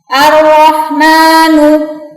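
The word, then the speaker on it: الرحمن: Seperti Ar-Rahmanu, mim atau ma itu dibaca 2 harokat. Kalau kalian bacanya 5 atau 6 harokat seperti mad wajib, itu malah salah. Jadi bacanya cukup ar-rahmanu, seperti itu, ar-rahmanu, seperti itu ya.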